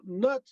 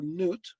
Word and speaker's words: Nut: that lays beneath her so nut uh or newt it's actually said both ways as a her headdress